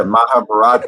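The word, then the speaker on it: Mahabharata: oh yeah the the the story mahab yeah mahabarata I'm glad you said it because I was going to throw ours in he pronounced it right you got I don't know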